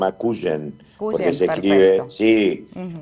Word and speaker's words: Cuyen: Te quiero contar y te te quería para que sepan, se llama Cuyen porque se escribe Sí. O Calen, si sería en inglés, pero es cuen José María Cuyen es el hospital.